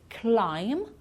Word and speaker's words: climb: some of these words climb we don't pronounce the B at the end crumb lamb and numb